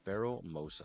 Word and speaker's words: Pheromosa: Yeah, Pheromosa.